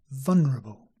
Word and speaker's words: vulnerable: and finally vulnerable and for this word vulnerable many English people simply say vulnerable without the L yeah vulnerable so if